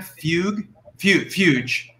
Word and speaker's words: Fuge: Gavin, you are hereby ordered to inform Sam Fuge, rhymes with huge, the next time you